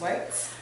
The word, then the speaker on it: Werts: her say her name my name is candace wurtz how are you doing today i'm great thank